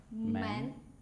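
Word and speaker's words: 门: And the second part, this part, it's pronounced men, which means door.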